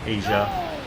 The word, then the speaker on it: Aja: It's spelled that way, Asia.